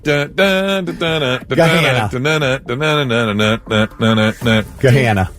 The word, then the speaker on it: Gahanna: Gahanna. That's one that actually sounds like it looks.